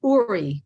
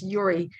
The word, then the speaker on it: Uri: like to call it uri you know because that's the way we would pronounce it but i guess it's yuri in the uh in